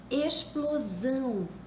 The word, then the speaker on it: explosão: pronuncia como se fosse explosão se escreve com x mas se pronuncia como se fosse S extinção se escreve com